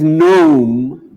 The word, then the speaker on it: gnome: Why is gnome, G-N-O-M-E, meaning a goblin, spelt with a G?